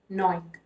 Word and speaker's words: gnawing: Your G is silent, so it's pronounced as gnawing.